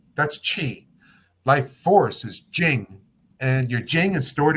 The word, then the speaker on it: Jing: our Jing is stored Jing that's spelled j i n g like the first part of Jingle Bells okay without the O and without the bells so Jing j n